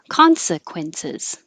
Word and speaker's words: consequences: We had just the right number of words for an hour, starting with consequences. And the "siz" at the end is really a Z, but it doesn't have to be a perfect Z.